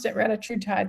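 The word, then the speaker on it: retatrutide: she's currently leading the reatride trials and I'm going to pronounce it reatride because she pronounced it reatride. Now, there was two other doctors there that pronounced it retatrat.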